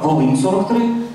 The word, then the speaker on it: Волинь: Єдине, що українською це «Волинь» жіночого роду з наголосом на другий склад, польською «Волинь» чоловічого роду з наголосом на перший склад.